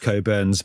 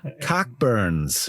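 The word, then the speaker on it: Cockburn's: for a cherry yeah called coburns pronounced coburns but on the page if I was American I go CAC burs yes which immediately makes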